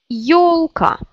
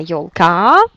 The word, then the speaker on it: ёлка: Ёлка. C'est pas ёлка, mais ёлка. Première syllabe.